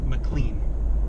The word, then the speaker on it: McLean: McLean. Correct. All right. And I got the pronunciation right? You did. Okay. I was really hoping it was McLean, like John McLean from Die Hard, but...